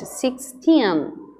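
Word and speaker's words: sixteen: Lembra que o tin é que é a sílaba forte. 16.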